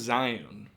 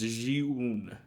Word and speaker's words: Zhiyun: I always thought it was Zion, but it's not. It's Zhiyun. I'm terrible at this.